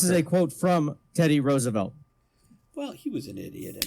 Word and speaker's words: Roosevelt: As for name, it is pronounced as if it was spelled Roosevelt. It has three syllables, and the first syllable as if it was rose.